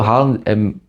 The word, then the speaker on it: Haaland: O propósito do Haaland, né? Eu descobri que a pronúncia correta é essa.